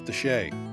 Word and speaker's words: de Chelly: It's spelled Chelly, but trust me, it's de Chelly.